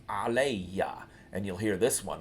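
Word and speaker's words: عليّ: When you have ala and then the e for me, it changes the alif maksura to a regular ya and doubles it. So this is pronounced aleya, and you'll hear this one a lot.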